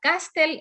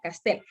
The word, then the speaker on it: Castel: entonces en este caso no está tildada porque termina en l no es ni n ni ese ni vocal pero es aguda entonces el hecho de decir pronunciar castle es un error porque